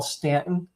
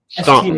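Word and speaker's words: Staunton: There's a there's a town here that they call Stanton, and it's spelled S T A U N T O N. Stunt. A Stunt. It should be Stanton. It should be. Yeah. Right. Yeah. Like it's Stanton.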